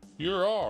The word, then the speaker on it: Huron: The answer is Huron. Huron. Or however you say its name. Ah, you said it right.